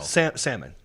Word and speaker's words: salmon: So it's silent L. Salmon.